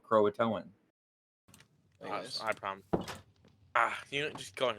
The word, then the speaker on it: Croatoan: o and I'm saying Croatia how do you pronounce that Hunter crowing that's Croatoan Croatoan what what that that's the actual proud like